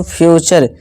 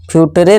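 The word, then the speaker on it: future: इसी तरह से फ्यूचर, फ्यूटरे नहीं फ्यूचर।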